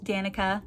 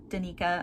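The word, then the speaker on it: Danika: has a best friend Danica or Donita I've heard it pronounced both ways I'm not really sure I say Danica in my head so that's what I'll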